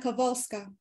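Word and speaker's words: Kowalska: in um Polish language W becomes letter V so it's pronounced Helena kavalska she was born on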